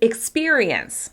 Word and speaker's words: experience: Let's start with the word experience. Experience. Can you hear which syllable is being stressed in experience? Experience. Experience. As you can hear, it's the second syllable.